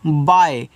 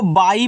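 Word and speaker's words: by: मतलब होता है जैसा बी वाई तो इसको पढ़ते हैं बाय बहुत लोग इसको बाई पढ़ देते हैं नहीं ये बाई आपका गलत इसको आप बाय पढ़ोगे यानी कि इस तरीके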